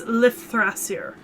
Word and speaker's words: Lifthrasir: So it is a TH, so it's Lifthrasir. So Ragnarok Lifthrasir.